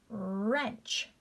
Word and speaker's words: wrench: w gets crossed out ren ren silent w wrench you see guys it's not i'm not making that w sound at all silent w wrap wrap